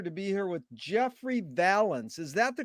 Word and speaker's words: Vallance: Okay, it's an honor and a pleasure to be here with Jeffrey Vallance. Is that the correct way to pronounce it?